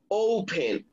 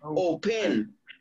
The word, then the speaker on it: open: so since the stress goes on the first syllable just add ing okay answer answer it open open open you don't say open okay open so the stress goes on the